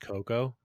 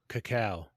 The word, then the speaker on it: cacao: heavy cream did you know that it's not pronounced cocoa what does it pronounce cacao really i've never known that in my life